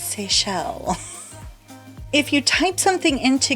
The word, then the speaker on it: Seychelles: And so many people I saw calling it seashells. And I was like, it's Seychelles.